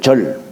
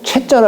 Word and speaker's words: 切: 끊을 절. 근데 우리가 이제 요거 일체라고 할 때도, 채자를 할 때도 채라고 읽어요.